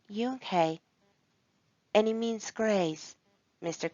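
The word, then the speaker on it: Unhei: turned to joey she nodded slowly yes it's pronounced yunke any means grace mr kim added yoon hey joey said slowly and this time perfectly it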